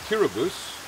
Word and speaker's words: Kiribati: I'm here in Kiribati with the president of this small island country, President Tong.